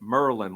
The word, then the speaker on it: Maryland: little rundown on it instead of Maryland a lot of people pronounce it Merlin like the magician or home you know